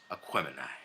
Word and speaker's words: Aquemini: against AQUEMINI.